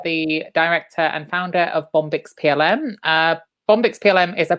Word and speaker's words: Bombyx: But so I'm here today with Lucy Blackley from Bombyx PLM. Did I pronounce it correctly? Bombyx PLM, yeah. Bombyx, yeah.